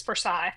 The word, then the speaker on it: Forsyth: It's Forsyth. Forsyth. Okay. Thank you for that because I was about to embarrass myself. It's like 3 syllables.